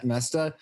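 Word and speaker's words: Moesta: Bob, how do you pronounce his last name? Mesta.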